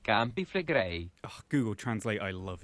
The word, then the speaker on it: Campi Flegrei: a year Yellowstone moves pales in comparison to Campy Fleg. And I've never heard of that one, so... It's pronounced Campi Flegrei.